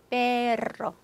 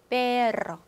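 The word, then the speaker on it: perro: 페로, 페로. 자, 그래서 스페인어의 R이 두개 있을 때그 독립적인 발음, 혀 굴려주는 거, 페로.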